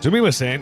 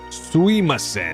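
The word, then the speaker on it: すみません: Sumimasen is often pronounced with very little emphasis on the mi syllable. So it often sounds like suimasen.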